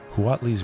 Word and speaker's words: Huatli: I like really pronouncing the H there. Huatli's Raptor.